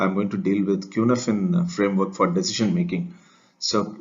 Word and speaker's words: Cynefin: part five i am going to deal with qnfin framework for decision making so it has to be pronounced as qnaphan is a welsh word that translates as place